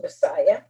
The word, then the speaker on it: MSIA: the group was m-s-i-a which could also be pronounced messiah m stood for movement